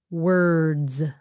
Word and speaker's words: words: Z s or Z the proper way to say it is words words Z because the D is voiced word okay without the assets word word so it's words z sound hmm how about this